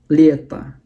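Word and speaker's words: лето: Penekanannya di huruf Y, makanya huruf O-nya dibaca seperti huruf A. Lieta.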